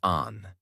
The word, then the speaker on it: Anne: People called her Anne, pronounced Anne.